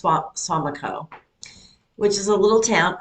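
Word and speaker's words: Suamico: Well, anyway, uh, in Swamico, I think it's pronounced Swamico, which is a little town up by Green Bay.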